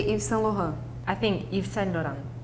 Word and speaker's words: Yves Saint Laurent: But I mean, we also say in French actually just Dior, but we want to pronounce the full name. This one is Yves Saint Laurent.